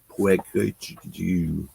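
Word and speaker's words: Peugeot: That's how you pronounce that. Puig.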